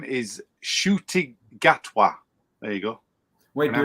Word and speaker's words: Ncuti Gatwa: His name is Ncuti Gatwa. There you go. Wait, do it again. Ncuti Gatwa.